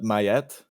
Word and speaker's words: Ma'at: arms and stuff yeah the way it's spelt it would make me say ma'at but mayat is another way of a lot of people say it okay i i'm torn